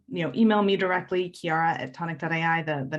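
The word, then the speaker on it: Chiara: you can also you know email me directly kiara at tonic.iii the the name is spelled c-h-i-a-r-a at tonic and i do want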